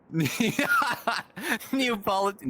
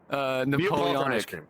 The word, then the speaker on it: Napoleonic: but Neopolitan, Neapolitan, no. Napoleonic.